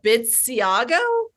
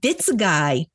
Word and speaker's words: Bitsaguy: Bitsiago? I know. That's where I went. Bitsaguy. Oh. I know. That's what I said too when he told me how to pronounce his name.